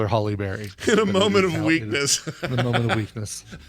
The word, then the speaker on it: Halle Berry: to go right okay Halle Berry is not Halle Berry it is pronounced Sally Bally rally are tallied like Halle